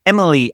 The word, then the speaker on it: Emil: Today we have the good fortune to have Mural candidate Emily on the show.